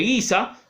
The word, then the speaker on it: Giza: Y cerca de ella se construyen las grandes pirámides de Giza, así se pronuncia, que pueden ver en la página anterior.